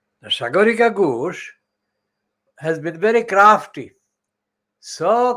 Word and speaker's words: Sagarika Ghosh: That is my pronunciation. It's not a Hinduized Hindi's pronunciation, but it's a Bengali pronunciation. Sagarika Ghosh. Now, Sagarika Ghosh has been very crafty,